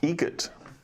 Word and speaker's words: Egret: Egret. Spelt differently. Like the bird.